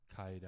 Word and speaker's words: 怪談: And a ghost story in Japan, in Japanese, we call kaidan. Kaidan. It's not the stair. We also call kaidan for the stairs. Okay. But it's a different kanji. But pronounced the same. Pronounced the same, yeah.